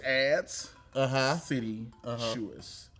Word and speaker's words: adscititious: ADSCITITIOUS. It's a lot of titty in this word. A lot of titty in this word. It's ads, city, shoes.